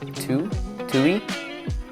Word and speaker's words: tu: Then we have tui. I remember this word because it rhymes with you.